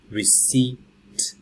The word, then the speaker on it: receipt: the next one received receipt the piece not pronounced okay so I brought